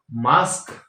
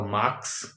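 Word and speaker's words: mask: की गलती होती है रिस्क रिस्क को क्या बोलते हैं रिक्स मास्क तो माक्स इश्क तो इक्स है ना तो इस तरह से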